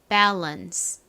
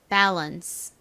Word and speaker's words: balance: 발음은 밸런스 실제 미국식 발음은 밸 이죠 미국식 발음으로 한번 연습을 해 볼게요 따라해 보세요 balance 한 번 더 해 볼까요 balance 좋습니다 균형 bance 잘 기억해 주시고요 이제 마지막